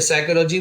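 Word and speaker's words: psychology: P silent वाले words देख लेंगे, साइकोलॉजी, देखिए साइकोलॉजी में पी साइलेंट है, और साइकोलॉजी नहीं पढ़ेंगे,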